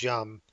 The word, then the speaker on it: Yum: of software called Yellow Dog Unmodified, which we pronounce Yum, which is a package retrieval system.